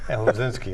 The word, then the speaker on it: Osinski: Ken Scott and Bobby, how do you say it? Osinski. So the S is a Z? Can you get that? Oh, you're right. Osinski, okay.